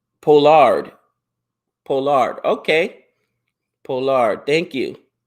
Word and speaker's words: Pollard: Pollard is pronounced Pollard.